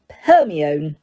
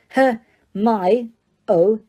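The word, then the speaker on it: Hermione: say her name properly he kept calling her perion her my o she said slowly and clearly her n close enough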